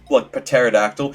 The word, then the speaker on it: pterodactyl: Especially for words like pterodactyl.